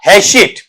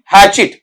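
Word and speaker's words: hatchet: तो इसका उच्चारण भी करें तो ऐसे हैशे, ऐसे नहीं, हैचिट, हैचिट। इस तरीके से वहां पर आप बताएंगे।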